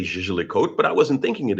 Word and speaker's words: Jaeger-LeCoultre: How many languages does that guy speak that says I don't know how to pronounce Jaeger-LeCoultre? Or Jaeger-LeCoultre or whatever. I mean, but uh actually it's Jaeger-LeCoultre.